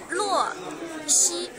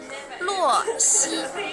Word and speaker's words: Luo Xi: Just the pronunciation. How would it be? Ah, you wrote the name. Luo Xi. One more time? Luo Xi.